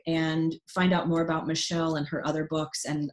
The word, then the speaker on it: Machaelle: michelle small right so her name is actually pronounced michelle even though it's spelled a little bit differently so michelle small right